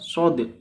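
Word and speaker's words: ص: Lam Mim SH nah ini shnya harus ada kayak qqahnya sedikit ya karena memang dalam bacaan pengucapan ketika tidak ada harakatnya yaitu pengucapannya Shad Shad Shad Shad gitu ya Alif Lam Mim Shad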